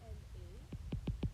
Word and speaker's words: elle est: Il est, elle est, your S and your T are silent.